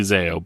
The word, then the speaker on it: Zao: a billion times and probably don't know how to pronounce correctly but Val it's definitely Zao but the thing is